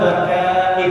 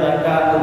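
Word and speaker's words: ذكاء: kita ingin mendapatkan ilmu yang pertama zakain ada yang bacanya zakaun Boleh zakain arti Zaka apa kecerdasan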